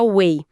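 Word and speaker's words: 為: Sim, ele fica encantado com o caractere wei, que se pronuncia wei.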